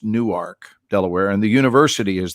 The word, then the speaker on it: Newark: It looks like Newark, like Jersey, but it is not pronounced Newark. So you have to be a local to know that Newark, when in Delaware, is pronounced Newark, Delaware, and the university is there.